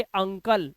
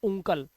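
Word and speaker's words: uncle: ऐसी कंडीशन में इसे पढ़ेंगे अंकल, ना कि उंकल।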